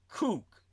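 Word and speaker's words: Kook: That's a surname pronounced K O K Cook all to a propo the spiritual leader of the settlers in Gaza and the West Bank.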